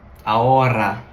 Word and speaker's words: ahora: You need to roll your R's. So, if you just go ahora, that's not Spanish. You're butchering it.